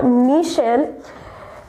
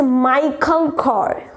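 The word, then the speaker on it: Michael Kors: ऐसा लगता है इट्स मिशेल, but guys it's नॉट मिशेल, इट्स माइकल कोर. What?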